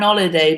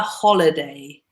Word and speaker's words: holiday: And another thing for Katerina, holiday in English, we pronounce this H. So it's not an holiday, but a holiday.